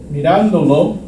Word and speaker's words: mirándolo: add that extra syllable, you have to maintain the stress on the original participle. I wanted to say, mirando, estoy mirando el video, mirándolo, mirándolo.